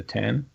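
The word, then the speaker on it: OS X: It's not the X, it's the 10. That's correct. No, I thought it was the X. Now I'm confused. No, it's pronounced I definitely 10, like Mac OS 10.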